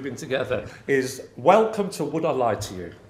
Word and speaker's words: Would I Lie to You?: I Lie to You, with the emphasis on the lie. Welcome to Would I Lie to You, as opposed to Would I Lie to You. Oh, no, sorry. No, so you have the emphasis on the you. Would I Lie to You? Whereas everybody else I know has the emphasis on the word lie.